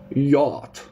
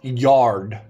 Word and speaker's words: yacht: it comes from America yacht it is an expensive boat a PL pleasure boat a yacht not yard guys I am also